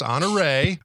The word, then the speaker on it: Honoré: name is honor 1/4 now that actually has a French origin to it it's spelled kind of like honoree however its honoré so we want to make